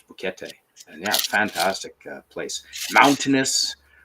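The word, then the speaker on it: Boquete: in Northern Panama called bokete it's uh it's like bouquet but it's they pronounce all the words so it's bouquete and yeah fantastic Place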